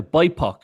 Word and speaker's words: BIPOC: They're now bipok. Is that how do you say that word or say BIPC? Bipok. No, but you can say Bipok.